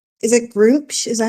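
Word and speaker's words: Gruumsh: is true, Button, it sounds like, is it Groomsh? Is that how you say it? Mm-hmm. Groomsh.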